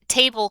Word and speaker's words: TBL: So for example, TBL contractors, which is pronounced table contractors, was named starting with